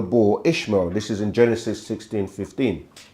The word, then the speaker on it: Ishmael: Which becomes Abraham, and Hagar, who people pronounce like Hajar, Hagar, or Hakare, through their son Ishmael, or they say Ismail or Ishmael.